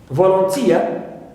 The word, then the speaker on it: volunteer: For example, for ia I have volunteer. So here I stress tia, third syllable, right?